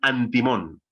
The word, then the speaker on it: artimón: Los cabalistas escriben artimón y pronuncian antimón, que sospechosamente es muy parecido a antimonio, ¿verdad?